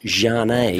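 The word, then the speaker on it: Zhane: Z-H-A-N-E, pronounced Jane.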